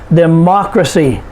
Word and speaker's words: democracy: y and g y for example democracy de macra see four syllables we put the stress on the third to the last syllable which is ma democracy uncertainty uncertainty four syllables